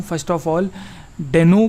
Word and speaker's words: Deno: First of ऑल, डेनो को हम डीनो बोलें या डेनो बोलें, तो रायन डाल जो कि क्रिएटर हैं डीनो के, उन्होंने खुद बोला है कि जो इसका प्रोनाउंसिएशन है वो डीनो है, ना कि डेनो।